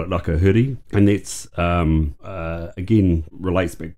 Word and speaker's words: Rakahuri: Have I pronounced that correctly? Ai, Rakahuri.